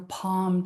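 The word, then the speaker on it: pomme: Um, and the sixth one is your palm tool.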